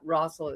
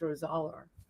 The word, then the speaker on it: Rosaler: It's not Rossel, it's Rosaler. Rosaler.